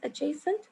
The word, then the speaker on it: adjacent: Now the D is silent here, so you pronounce it as adjacent angles.